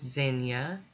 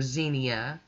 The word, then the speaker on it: Zinnia: here we go with zenya or xenia it depends on where you live how you say it down here we call them xenias most people do so